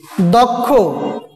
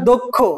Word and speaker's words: দক্ষ: খেয়াল করো, আদ্য অ এর পর যদি ক্ষীয় থাকে, তাহলে অ এর উচ্চারণ ও এর মতো হবে।